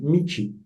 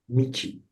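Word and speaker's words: 道: Et en japonais, ça se dit michi, michi. Donc, quand le caractère il est tout seul, en général, on utilise la prononciation japonaise, michi.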